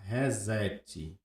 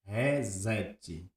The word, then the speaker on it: reset: Todo mundo fala resete. Resete que é o que é resetar, reiniciar. Reset. Então, só que a pronúncia correta é resete.